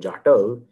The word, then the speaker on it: Jatav: Second, all that stands between Jat and Jatav is that soft second syllable.